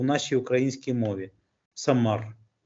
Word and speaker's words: Самар: в нашій українській мові самар Ну не будуть Так напружена вимовляти р без м'якого знаку тому в кінці-кінців це перетвориться і фактично буде лунати слово Самара Самара самарці і тому